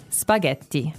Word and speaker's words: spaghetti: Spaghetti. Spaghetti. Oh, you pronounce the double T as well.